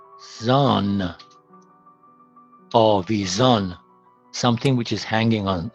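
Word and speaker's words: آویزان: Was, it with the beginning of the second syllable. Avaz means song. Okay. Now, A, V, zon. Avizon, something which is hanging on a plate, dangling.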